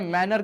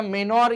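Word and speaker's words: manor: ठीक है, मैनर क्या हो गया, मेनोर या मैनर जो हो, इसका प्रोनाउंसिएशन डिफरेंट है। ठीक है, मेनोर नहीं है, मैनोर बोलते हैं इसको, अगेन फ्रेंच डिस्क्रिप्शन है, तो आंसर जो हो जाएगा बी मैनर।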